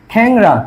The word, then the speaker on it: খ্যাংরা: অনুস্বর ও চন্দ্রবিন্দু যুক্ত ধ্বনির আগে এ ধ্বনি বিবৃত উচ্চারণ হয়। দেখো, এই যে দেখো, খ্যাংরা কি বলছে এখন এই